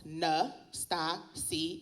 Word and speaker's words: Natasia: Nastasia um my name is pronounced n sta C and and I will